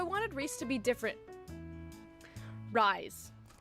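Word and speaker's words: Rhys: Anyways, rise. Gosh dang it, Keki. His name is Rise. Okay, side tangent, but Jessica, if you are for some reason watching this by some miracle, why is it pronounced Rise when it is so clearly spelled Reese?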